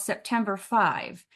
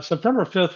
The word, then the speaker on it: September 5: But then I found out about this film called September 5. I call it September 5th, but I read that people call it September 5.